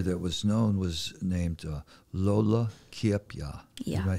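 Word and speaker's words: Lola Kiepja: And when we were putting together that film, you told me that the last speaker that was known was named Lola Kiepya.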